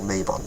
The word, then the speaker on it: Mabon: Equinox mabon or Mayon I say it mabon because I'm Welsh and I read things phonetically just like when I first read the word sawin I read it as Sam Hine because if it was a Welsh word it would be read like that anyway but my problem with